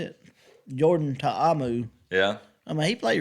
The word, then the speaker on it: Ta'amu: Jordan Ta'amu.